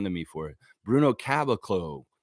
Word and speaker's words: Caboclo: It is Bruno, and I always say his name wrong, and she gets on to me for it. Bruno Caboclo. Caboclo, yeah, that's right.